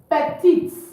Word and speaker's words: petit: Then petite. Okay. Look at it. Petit. Without pronouncing the teeth at the end. Petit. The pronunciation ends at the I.